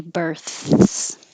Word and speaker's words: births: We have to say births. Births. Births. The tongue goes out for the th and back for the s, so it takes time.